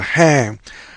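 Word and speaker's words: 한: out, the whole graph or the character is pronounced as hang, and this one is pronounced as gu.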